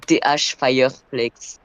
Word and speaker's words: Thfireflex: C'est TH Fireflex.